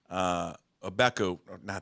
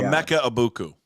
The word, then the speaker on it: Emeka Egbuka: Obeku, I know that's not how you pronounce his name.